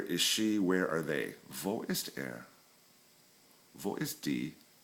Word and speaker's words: wo: in German, and the letter W is pronounced, remember, as the letter V. Okay, so we have what, and that's was. Like, was ist das? What is that? Okay. Where is wo? V-O, wo.